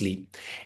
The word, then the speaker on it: Sliiip: So the practice name is Sliiip, spelled Sliip, but it's pronounced Sliiip.